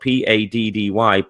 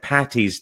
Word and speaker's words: Paddy: stay by the way sent daddy is spelt PA ddy paddy is not short for Patricia it's short for Patrick so don't say Saint Patty's Day with the T you'll upset me Tiffany says when do